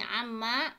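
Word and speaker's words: عمّ: mereka Ay itu e jadi Amma bacanya gini Amma tafsir Amma itu tentang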